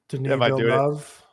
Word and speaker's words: Denis Villeneuve: Pronounce that director's name for me. Denis Villeneuve.